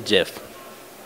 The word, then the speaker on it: GIF: boat the second question is it pronounced gif or Jif definitely jiff I'd have to say